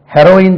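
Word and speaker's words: heroine: கதாநாயகி அப்போ இது வந்து ஹெரோயின் சொல்றாங்க இதுக்கு ஹீரோயின் சொல்றாங்க ரெண்டுமே ஒரே உச்சரிப்புதான் ஹெரோயின் ஹெரோயின் போதை பொருள் அது ஹெரோயின்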